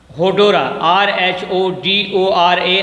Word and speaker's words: Rhodora: अब आपका 10th line है, बुक पर रख लीजिएगा हाथ जो है होडोरा, RHODORA, आर साइलेंट है.